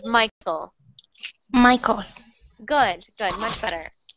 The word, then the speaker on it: Michael: make that that name it doesn't really sound like my coal it sounds like Michael just it's like as if it was just like Mike with an L at the end of it Michael Michael so try